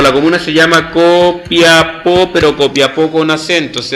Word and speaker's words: Copiapó: los que sean de Copiapó, pero con acento en la O.